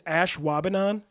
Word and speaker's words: Ashwaubenon: there's some really crazy ones you probably are pronouncing wrong currently yeah but this one is Ashwaubenon and I've seen the Brewers mess this one